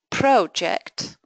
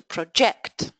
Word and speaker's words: project: So produce to produce project to project.